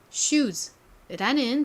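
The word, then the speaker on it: shoes: 자 요렇게 s까지 붙으면 s가 지읒 발음이 나서요 슈즈라는 발음이 됩니다 신발 따라해보세요 슈즈 한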